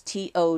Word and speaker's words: to: you to notice that people often pronounce this to as T when they are speaking look at this sentence